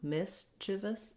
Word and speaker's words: mischievous: Mischievous, chivus. You can hear how there's just barely any vowel sound in those unstressed syllables.